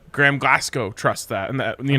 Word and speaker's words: Glasgow: is a glass gower glass go glasgow it's glasgow and i said yeah like